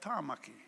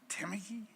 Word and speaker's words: Tāmaki: I mean, a simple name like Tāmaki, Auckland, Tāmaki. It's not Tamaki. You get Tamaki.